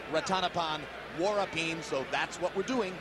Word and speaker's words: Rantapol Sor Vorapin: country and incidentally yes it looks like Ratana Paul for a team but we were told by those who speak Thai and amazingly enough we don't that it should be pronounced rotten upon war up him so that's what we're